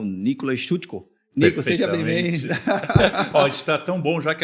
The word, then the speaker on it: Szucko: Vinícius terror meu convidado aqui é o Nicolas chuteco está tão bom já que até acertou a pronúncia do meu sobrenome e como a gente